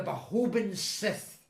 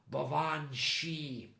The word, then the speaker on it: Baobhan Sith: apparition called well this was how I would have pronounced it at the time. the uh the Bahobin Sith. Of course, growing up on the south side of Glasgow, the ga uh wasn't really part of my vocabulary. I didn't realize at the time the the creature's name was actually pronounced banchi.